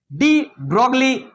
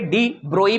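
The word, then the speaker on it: de Broglie: ऑन the basis of डी ब्रोगली concept. हम बोल दिए डी ब्रोगली। लेकिन जब हम पढ़ाएंगे इस चीज को आगे जाकर के डी ब्रोई पढ़ेंगे। एक्चुअली जी जो है साइलेंट होता है।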